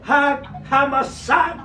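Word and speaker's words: חג המצות: Las fiestas del otoño, estas fiestas del otoño, está también el Hag Hamasá. ¿Qué es eso?, preguntará usted. Así se pronuncia en hebreo y se llama panes sin levadura, panes sin levadura.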